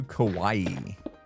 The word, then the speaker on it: Kauai: Kauai is not really said like Hawaii, just Kauai.